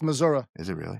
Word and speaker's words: Missouri: I believe it's pronounced Missouri.